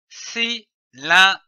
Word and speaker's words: cylindre: Nous avons vu la syllabe si, C-Y, si. Ajoutons d'autres syllabes. Lin, L-I-N, lin. Dre, D-R-E, dre. L'association des syllabes donne le mot cylindre, comme un cylindre.